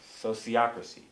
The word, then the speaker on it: sociocracy: So sociocracy, it's a kind of a funny word. Sociocracy, the word was invented by the same French philosopher, Auguste Comte, who came up with the word sociology. So, sociology, sociocracy.